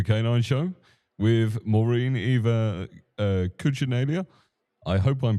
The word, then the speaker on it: Cucinella: to the Super K9 show with Moren Eva Cooellia. I hope I'm pronouncing your name right. Coochinella. Coochinella.